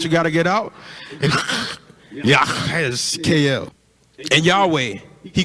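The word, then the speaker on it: יחזקאל: The way to pronounce Ezekiel in the Hebrew is YAHASHKL. YAHASHKL. Y'all try to say that with me.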